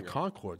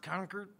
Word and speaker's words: Concord: think there's one by Concord still one on Providence the one I'm talking pronounced conquered oh conquered I think there's one